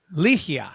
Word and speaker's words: Ligia: Ligia, right? Yes. Is that correct? Ligia, yes. Ligia. Yes. All right. So I'm putting the emphasis on the wrong spot.